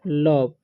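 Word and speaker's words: love: है तो इसे पढ़ेंगे लब ठीक है और ई जो है साइलेंट हो जाता है ठीक है एल आईवी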